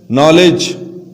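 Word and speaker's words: knowledge: अब एक और चीज भी ज़हन में रखें, यहां पर अगर के फौरन बाद एन आ जाए तो के की जो आवाज है वो क्या हो जाती है, खामोश हो जाती है, साइलेंट हो जाती है, इसकी आवाज नहीं रहती।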